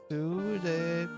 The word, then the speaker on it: pseudepigrapha: Pseudepigrapha.